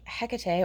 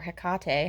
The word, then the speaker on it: Hecate: did a ritual invoking hecate or hekate however you choose to pronounce her name we looked it up